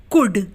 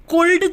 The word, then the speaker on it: could: या जैसे COULD, कुड। अब यहाँ पर एल किससे पहले आ रहा है, डी से पहले आ रहा है, इसलिए यहाँ पर एल क्या है, साइलेंट है, यानी कि है तो, लेकिन वो बोला नहीं जा रहा। हम क्या बोलते हैं, कुड बोलते हैं, हम कुल्ड